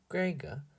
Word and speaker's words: Greger: my label maker stuck Greger pronounced with the hard G of tiger the cat reminded me